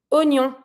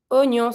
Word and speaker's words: oignon: We're not going to say wa. We're just going to be pronouncing o. Oignon. Oignon. So what we're going to do, we're going to avoid the I. We're just going to pretend that the I is not here.